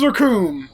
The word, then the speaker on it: Akum: As you come into the city, you flex your muscles and say, the name's Akum. It rhymes with doom, and you're gonna be hurting all too soon.